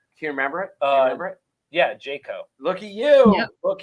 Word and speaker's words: Jajko: Yeah, Jajko.